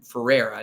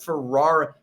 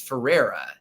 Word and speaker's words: Ferrera: of America Ferrera is it's actually pronounced Ferrera, not Ferrara. Oh yeah, sorry. Everyone, it's so weird. Everyone always calls it Ferrara, but it's Ferrera.